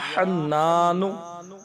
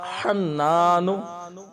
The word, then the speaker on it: حنان: پھر پڑھنا ہے یا حنان یا حنان، نقطے والا خا نہیں ہے بلکہ بغیر نقطے کے ہا ہے، اور تلفظات کی ادائیگی